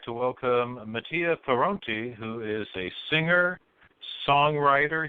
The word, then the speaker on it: Mattia Pironti: So in Italian, it's pronounced Mattia Pironti, but in English, I just say Mattia Pironti.